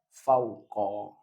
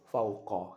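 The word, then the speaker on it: فوقَ: fi maful fi mansub maka bacanya fauqo fauqo dengan fathah Intinya saya ulang Pada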